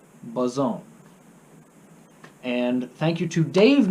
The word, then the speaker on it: boson: Thank you to Cole for the pronunciation on boson, like trombone, boson.